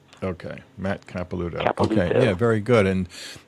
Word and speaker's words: Capelouto: u t is in tom o okay matt capilouto okay yeah very good and um i don't